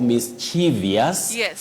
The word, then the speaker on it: mischievous: who also asked me why people talk of mischievous and Grievous yes which in fact are not there in the English vocabulary we say Grievous Grievous and mischievous mischievous not mischievous not Grievous we should avoid that so Talia mangi I